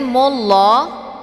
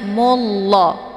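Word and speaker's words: الله: Kemudian mullah ini merupakan lafzul jalalah tafkhimun mufakkamun, yaitu lafaz Allah yang mesti dibaca tebal karena sebelum lafaz Allah berharakat zummah yaitu mu. Jadi dibacanya mullah bukan mulla, namun ditebalkan mullah.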